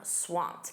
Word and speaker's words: swamped: Notice that pronunciation, that ed d is a soft t. I'm swamped.